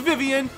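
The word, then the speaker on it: Vivian: like Berto and uh Vian from paper Mark th door I know we name is viven I pronounce as Vian we'll get on that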